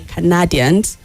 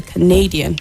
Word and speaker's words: Canadian: Some of those words you mispronounced are words like I heard you say Canadians. Okay, so someone from Canada would be a Canadian, not Canadian.